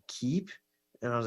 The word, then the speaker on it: Keep: it like a lot of people are like Keith yeah no that's what people say when I